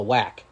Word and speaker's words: WAC: final automatic bid was how do you say wac uh the wac it's the whack the whack yeah new mexico state